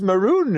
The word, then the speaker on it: maroon: reddish color and they'll go Ron no it's Maron and then it's just this whole other fun